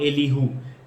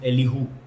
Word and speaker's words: Elihu: और चौथा था एलीहू, ELIHU।